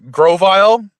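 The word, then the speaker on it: Grovyle: where my third Pokemon is uh Grovile, even though it's not spelled V I L E.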